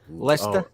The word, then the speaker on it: Leicester: very good worcester worcester very good that's classic leicester yeah leicester i was going to say that's